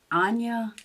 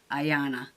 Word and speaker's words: Ayana: Anyway, here's another look, final look at the little Anya. I want to say it's Anya. I could be wrong. Let me look it up and see how you say it. I was wrong. Ayana.